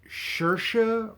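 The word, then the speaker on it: Saoirse: i believe it is shersha ronan i believe her name rhymes with inertia so shersha i believe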